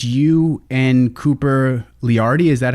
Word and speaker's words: Leardi: So House of Harm, it's you and Cooper Leardi. Is that how you pronounce their last name?